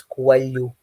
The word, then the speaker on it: Coelho: No, it's because of the year that we have. We have the sounds of L and H or N and H together. We make that sound. It's coelho.